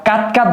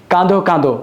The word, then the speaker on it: কাঁদো কাঁদো: যেমন এটাকে আমরা কাত কাত বলতে পারবো না। এটাকে বলতে হবে কাঁদো কাঁদো।